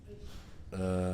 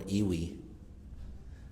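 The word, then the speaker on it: ewe: Uh, I always forget how to pronounce this word. I think it's ew or wi. Well, it's spelled ewi. Oh, it's a U.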